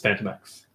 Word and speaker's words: Phantomex: Phantom is not spelled with an F, and I would think his name is Phantom X. It's Phantom X. Phantomex.